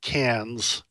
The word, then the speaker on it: Cairns: Well, it's spelled Cairns, but the Australians pronounce it Cannes, like the movie place in France.